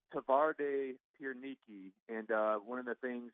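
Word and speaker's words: Twarde Pierniki: know but what w's are pronounced w's are pronounced B so it's tavar de pere Niki and one of the things the town is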